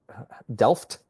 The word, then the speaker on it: Delft: We're going to talk about the fighting for the Delft is how they actually pronounce it, at the town of Delft from the 23rd of